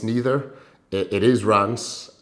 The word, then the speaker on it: Reims: past as well as rheem or Reims it's neither it is runs Rance rhymes with France and that's the the